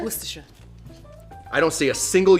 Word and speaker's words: Worcestershire: We're gonna be putting in some Worcestershire sauce.